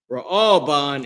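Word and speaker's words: Reuven: That their name is Raalban. Raaban in Hebrew. Okay, this is the uh pronunciation in Hebrew.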